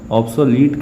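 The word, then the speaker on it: obsolete: एब्सोल्यूट नहीं, ऑब्सोलीट कहते हैं। तो ध्यान रखिए, प्रोनाउंसिएशन में भी थोड़ा ध्यान रखना पड़ेगा।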